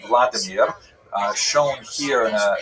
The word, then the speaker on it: Vladimir: What's uh especially important in its history is the conversion of one of its leaders a deer pronounced in Russian Vladimir uh shown here in a statue overlooking the dipro river that runs through the middle of cave.